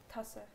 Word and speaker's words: Tasse: Tasse. Tasse? That sounds like another word for pussy. Like, that is the weirdest... Tussy? No, that's the weirdest cup tasse.